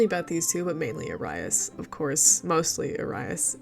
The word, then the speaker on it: Arias: Technically the name is pronounced Arias, but there are reasons why it's pronounced the incorrect, stupid white people version way.